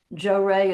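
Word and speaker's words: Johrei: Joe Ray is spelled J O H R E I, but when I took it over, I called it Jo uh J O R A Y.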